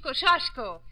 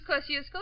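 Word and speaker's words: Kościuszko: trouble yes young lady in poland we say his name tadashi koshashko but in america tadou's kosciuszko is fine and jenna please please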